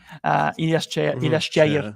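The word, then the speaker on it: Ilyas Chair: And of course, our most talk man in the summer, Ilyas Cheyer, actually, Moroccan pronunciation.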